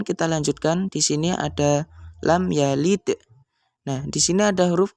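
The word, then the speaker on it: لم يلد: Artinya kita membaca dengan jelas di bibir sehingga bacanya adalah lam yalid. Kita baca persis huruf-huruf yang ada di sini. Mim-nya juga jelas, ya-nya juga jelas, dan panjang harakatnya cukup dengan satu harakat.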